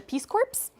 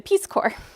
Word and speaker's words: Peace Corps: wanted to join the Peace Corps. But they were laughing at me because I was pronouncing that P in Peace Corps.